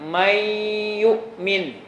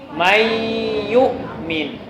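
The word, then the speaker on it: من يؤمن: Nunnya berarti tidak dibaca. Jadi bacanya apa? Mayyu'min.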